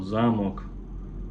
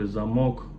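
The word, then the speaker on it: замок: we usually may be changing Accent on the world for example zamok zamok it's like cast cast Zam but if you say zamok it's like Lo but it's written the same lot Power Thomas Le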